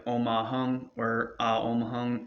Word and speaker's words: hum: more vibration going everywhere, when you do in any mantra the hung HUM, it's spelled HUM or HUNG. The reason for this is because you're supposed to rise the vibration into the back of your throat, but keep your lips closed.